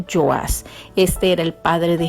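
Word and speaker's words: Joás: puede decirse también como yo as o sea con ye porque recuerde en el hebreo la jota por lo general no suena sino que suena como y entonces en hebreo se pronuncia yo as este era el padre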